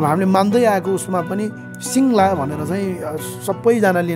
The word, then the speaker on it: सिङल्हा: तामाङ भाषामा भन्नुपर्दा हामी सिङ्ला शास्त्रीय भाषामा सिङ्गला भनेर लेखिएको छ। त्यो गाको उच्चारण हुँदैन र सिङ र ला भनेर सिङ्ला भनेर यो वास्तवमा अहिलेको